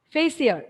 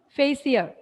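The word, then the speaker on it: facere: Here, before that, the word fashion is derived from the Latin word facier. Note down that point, facier. F-A-C-E-R-E, facier. The R is silent.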